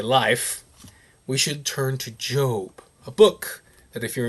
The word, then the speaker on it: Job: It is spelled like Job, but it's Job.